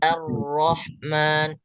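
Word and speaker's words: الرحمن: Karena huruf alif itu keluarnya tipis dan ro-nya sesuai tebal. Jadi Pak Ridwan bacanya Ar-Rahman.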